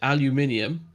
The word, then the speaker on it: aluminium: So It's aluminum. just to bore you for a minute, because my physics teacher mate taught me this. There was an agreement that Americans would start pronouncing it aluminium, and the British would change the way we